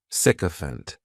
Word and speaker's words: sycophant: noun is sycophant and this noun has three syllables and the stress is on that first syllable the spelling May throw people off to the pronunciation but that ISAC is just pronounced sick sycophant the meaning of a